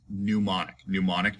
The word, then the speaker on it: mnemonic: That strange looking word is pronounced mnemonic device.